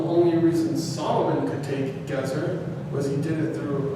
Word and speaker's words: Gezer: Gezer, not Gezer.